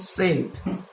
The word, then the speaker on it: scent: আবার SCENT যদি proper উচ্চারণ করতে হয় সি এর উচ্চারণ, তাহলে এখানে আসবে কি স্টেন্ট, কিন্তু উচ্চারণটা হচ্ছে সেন্ট।